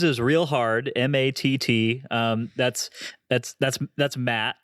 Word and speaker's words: Matt: That's Matt, right? Not a lot of people pronounce it that way, It's not Mott. It's Matt. Yeah, just the normal way.